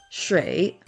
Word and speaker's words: 水: The Chinese pronunciation of this word is shui.